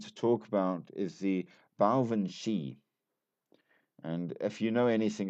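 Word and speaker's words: baobhan sith: It's spelled B A O B H A N S I T H and it is pronounced Bshi.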